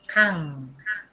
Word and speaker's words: 강: El otro es 강. 강, 받침, ion. Es solamente, y esto se pronunciaba como un NG en inglés. 강.